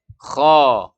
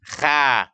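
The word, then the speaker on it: خ: Jadi cara membacanya kho, tidak dibaca kha atau tidak dibaca khu.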